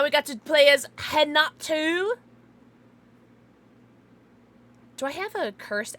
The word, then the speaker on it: Renato: R-E-N-A-T-O, but, the pronunciation's different. But, there's no way that you could have figured out how I was spelling, or how you just spell it from how I'm saying it. Which is, like how English said, in Brazilian, R's are pronounced as H. So it's Hinata, but it's spelled phonetically, like, with an R.